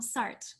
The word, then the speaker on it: Sartre: um somewhere that uh and so you you pronounce his name is sartre like i always say jean-paul sartre but that's that's so that's correct is it